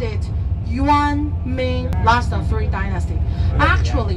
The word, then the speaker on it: Yuan: we call yuan mingqing yuan is like the Chinese money the note yuan y u an same character same pronunciation Yuan dynasty the emperor